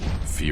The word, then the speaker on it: Phi: Yeah, I still think it's pronounced Fee, though.